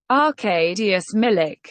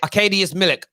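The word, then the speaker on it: Arkadiusz Milik: anything about him and this is how you pronounce his name arcadius millick arcadius millick that's actually a good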